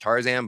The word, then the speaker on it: TRZN: on Instagram uh yeah it's pronounced Tarzan but I spell it trzn tick tock's the same